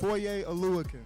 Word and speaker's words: Foye Oluokun: Foye Oluokun. Aluakun. Hadouken! Foye Oluokun, and y'all better make sure y'all pronounce it right.